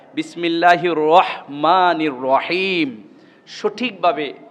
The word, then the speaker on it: রহমানির: না, বিসমিল্লাহির হ বিসমিল্লাহির রহমানির রহিম, সঠিকভাবে উচ্চারণ করাটাই হলো আসল। অনেকের কাছে আমি শুনেছি রহমানির রহিম বলে, রকমানি, রয়ের পরে ক, এটা ভুল, অর্থ চেঞ্জ হয়ে যায়।